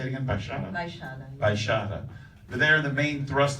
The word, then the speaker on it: Baixada: Baixada.